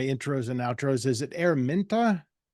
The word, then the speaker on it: Araminta: I do my intros and outros is it araminta araminta yeah I mean yeah it's funny yeah Americans definitely pronounce it in a different way I just